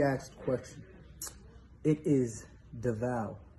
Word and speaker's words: Devale: the vat davao yeah the proper way to pronounce the name even though i feel like i've said all the incorrect names is not the valley is not the veil it's the vow like the value the way he explained